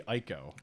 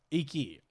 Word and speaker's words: Iki: I think it's actually Ico. We're aware. I think it's Ico Island. IKO Island, right? Isn't it Ico? I would say eco. Is it? Iki. Sorry, it's IKI. Iki Island.